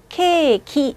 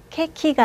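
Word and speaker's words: ケーキ: 그리고 케이크는요, 케이키 이렇게 발음하는데요. 이게 케, 이게 키죠. 중간에 선이 하나 보이시죠? 카타카나에서는 저 선으로 장음을 표식합니다. 그래서 케키가 아니라 케이키. 앞쪽에 있는 케를 길게 읽어주셔야 돼요.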